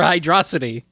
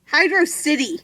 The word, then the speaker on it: Hydrocity: correct pronunciation hydrocity or hide raza t hydrocity yes absolutely 100% hydrocity no no what the heck is that no it's not it's hydrocity it's a compound word with hydro and city it's a water